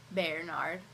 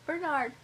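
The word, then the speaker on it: Bearnard: I love him and his name is spelled b e a r n a r d like Bernard only his Bernard and he's Giant and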